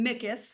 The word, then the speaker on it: MICIS: Service, and we go by the acronym MICIS, like Mickey Mouse.